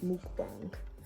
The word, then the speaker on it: mukbang: But I recorded like it's pronounced mukbang, but anyway, I actually recorded that.